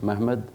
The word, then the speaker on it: Mehmed: and as they pronounce it in Turkish, Mehmed.